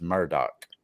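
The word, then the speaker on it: Murdaugh: Murdoch murders and it's it's spelled murder but everybody on that um on the the documentary was referring to him as Murdoch I don't want to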